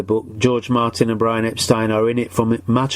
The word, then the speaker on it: Epstein: Now, I've been saying Brian Epstein because that's how he said it, but his family always pronounced their surname as Epstein, which is why there is a constant confusion of some people calling him Epstein and some Epstein, and they're both right.